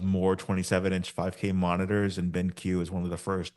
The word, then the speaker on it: BenQ: This week I got the chance to write about the BenQ. I think that's how the company is called, BenQ. That's how it's spelled at I think least. it's BenQ, yeah. Cool, not Benk.